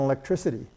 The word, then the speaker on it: electricity: the way down I mean take electric and electricity here the C represents a curse sound here